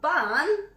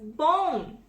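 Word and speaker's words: bún: I see bun. Not bun, it's bone. It's the tiny thin rice noodle. How does a B-U-N become B-O-N? It's bun. It's Vietnamese.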